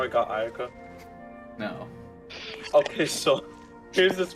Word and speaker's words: Ayaka: Akaya? Is that how you say it? Ayaka? Ayaka.